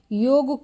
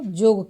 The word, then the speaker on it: योग: जैसे कक्षा को कक्षा कहना, योग को जोग कहना, और ये जो उच्चारण है ये वर्ड खास करके अधिकतर आप देखेंगे कि जो शिक्षक है पहले के, वो कभी भी योग को जोग नहीं कहते हैं।